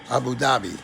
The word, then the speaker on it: Abu Dhabi: Abu Dhabi, yeah.